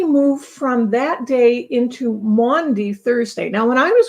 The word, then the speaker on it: Maundy: It's Maundy, and it's spelled entirely different, more like it sounds Maundy.